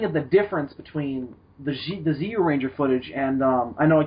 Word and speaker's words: Zyuranger: It's not pronounced Zyuranger. It's pronounced Zyuranger. It's not so much Jew, like you dirty Jew. It's more like you.